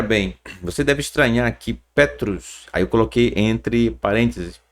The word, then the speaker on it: Petros: Pedro porque parênteses é porque Pedro gente não é a fonética a forma da pronúncia não é Pedro tá certo ele também era chamado de Petros e aqui ó ao